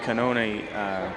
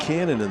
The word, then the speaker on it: Cannoni: Well, we said cannon in the first half, and he had a cannon. But we've taken the cannon away from him and made him into Cannoni. Because apparently, and this is the Salem announcers, they know the right pronunciation.